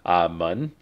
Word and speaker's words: 门: can see the pronunciation mun. We know that because it's Pikachu, the second tone.